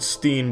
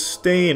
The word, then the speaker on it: Berenstain: It's always been Berenstain, not Berenstein. They all want to pronounce it Steen, but it's Stain. Ever since I was a kid, they call me Steen. It's Stain, though.